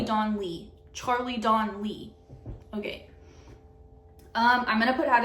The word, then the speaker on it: Donlea: Okay, next we have Don't Believe It by Charlie Donlea. I always say that. That's not how you say it. Charlie Don Lee.